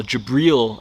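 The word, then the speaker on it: Jibril: the quran where uh angel gabriel or jabril as it's pronounced in islam comes to a house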